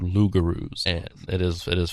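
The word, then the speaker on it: loup-garou: And in France they were called lugaroos.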